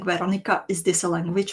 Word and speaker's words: Veronica: do we call her Veronka and the spelling Veronica? Is this a language pronunciation? Just want to get it right. Both are right. Veronica is the official version. Veronka is like the cutie version.